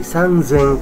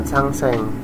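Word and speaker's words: さんぜん: R sama l ya makanya bacanya menjadi sang Zeng karena ini spesial bukan sangseng sang Zeng nah 8.000 pun sama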